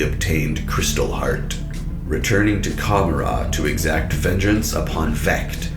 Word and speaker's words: Cegorach: So for example, the CH at the end of his name, it is Cegorach, Cegorach.